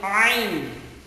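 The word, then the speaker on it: عين: So yung ayn, so parang pag hinawakan mo yung ilong mo, a. So ganun ang, halos ganun ang tunog ng ayn.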